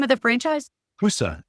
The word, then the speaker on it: Husse: Husa. It's spelled Husse.